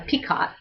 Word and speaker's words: picot: You have to triple crochet, skip stitches, crochet a picot, not a peacock, but a picot, P-I-C-O-T.